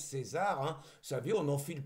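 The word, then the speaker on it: CAESAR: Alors j'ai demandé hein, ça s'écrit C A E S A R mais il paraît que ça se prononce César. Donc je prononce César hein, vous savez, on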